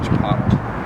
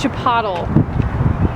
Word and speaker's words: Chipotle: Josh texted rain check I think they pronounce it Chipotle Chipotle oh yeah maybe we've been saying it wrong this whole time it's Chipotle yeah so anyways um they